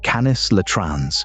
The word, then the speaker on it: Canis latrans: The western coyote, Canis latrans, pronounced Canis latrans, is a small dog, 25